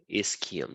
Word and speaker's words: ischium: then at the back there is the ischium is Kim that's how you pronounce it so that that Ilium the ischium